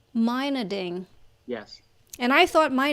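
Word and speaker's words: Meinerding: attributed to to you Min mining mining Miner ding mining yes and I thought my name was awkward to pronounce and Phil Saunders that one was easy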